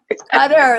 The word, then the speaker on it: Qatar: Cutter, like cutting with scissors.